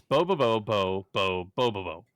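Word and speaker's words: Bobobo-bo Bo-bobo: no it's I I copied and pasted it's bobobo bo bo Bobo or sorry bobobo bo bo Bobo that's that's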